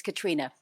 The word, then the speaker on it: Caitriona: As it's phonetically spelled, but it's Caitriona. Caitriona, okay, an Irish spelling.